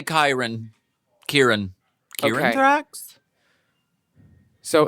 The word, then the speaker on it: Khyran: So, drag name is Khyran like Ty and my boy name is Kieran, but it's spelled the same way, so it can get confusing. But yeah, Khyran in drag, Kieran out. Khyran in drag, Kieran out of drag.